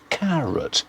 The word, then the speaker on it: carrot: The stress is on the first syllable, the second syllable, carrot. The sound is an unstressed vowel sound. We don't say carrot, we say carrot. Stress on the first syllable, the second one is weak, unstressed.